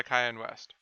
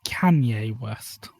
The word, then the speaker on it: Kanye West: It's 1 is by Savage, 2 is by Skillet, and 3 is by Cayenne West. So it goes from left to right. I believe it's Kanye West.